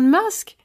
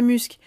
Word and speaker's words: Musk: ça veut dire ça elon musk ouais ça se prononce comme ça désolé on dit pas muscles et bat corps et